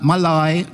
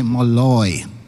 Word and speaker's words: Malloy: her name you know not Malai not Molly you have to say Malloy we will lockstep with